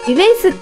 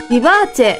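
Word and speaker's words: Vivace: ああの看板でしょあれイベンスって読む人多いですけど本当はビバーチェああ当たりですね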